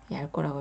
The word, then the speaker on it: 얇고: 그리고 얇고입니다. 이것도 주저하지 마시고 리을만 소리를 내시면 되세요. 얇고 얇고 이렇게 하시지 마세요. 얇고입니다. 얇고라고 읽어주시고요.